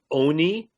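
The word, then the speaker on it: עני: is a meaning that it really should be Oni with a with a long o and Oni means a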